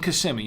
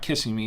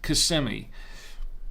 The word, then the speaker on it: Kissimmee: so I know and and Kissimmee no it's not kissing me it's Kissimmee okay I'm no I'm